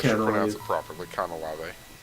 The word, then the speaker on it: Canalave: And I didn't want to say I should pronounce Cantilever. it properly. Canalave. Canalave.